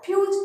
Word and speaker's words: फ्यूज: इसको जब पूरा फ बोलते तो फ, और ये आधा फ फ्यूज। क्या? फ्यूज। देखो यू, ये यू का उच्चारण हो रहा है पीछे, फ्यूज।